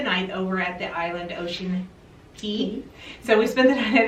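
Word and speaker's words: Ocean Cay: Key I did find out some people were pronouncing K and some will key but according to MSC it's Ocean Key Ocean Key and key just means a group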